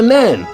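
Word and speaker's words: Nene: You mean the river ne? No, I don't mean the river ne. It doesn't become the river Nin until you get to and in Northampton. It's the river Nen. It's pronounced Nen.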